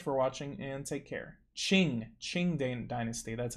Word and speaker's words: Qing: Qing Dynasty, that's how you say it.